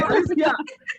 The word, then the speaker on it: Alicia: Not Alexa, but it's Alicia.